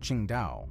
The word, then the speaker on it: Qingdao: The home ports for the northern and eastern fleets, Qingdao (pronounced as ching·dau) and Ningbo (pronounced as ning·bow), are cut off from directly accessing the western pacific by the Japanese archipelago and Taiwan.